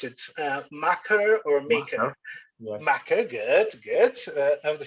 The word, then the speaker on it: Makar: He's actually a current, how do you pronounce it? Maker or maker?